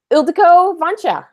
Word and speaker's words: Ildiko Vancsa: Welcome, Ildiko Vancha.